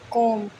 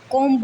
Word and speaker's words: comb: से COMB, कोम, कोम्ब नहीं कोम।